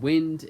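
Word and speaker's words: Wynd: First up is Diesel Ignition, and Wind This Is Not.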